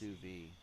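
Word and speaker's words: sous vide: They're designed for that and they just run it over that pronounced sousi.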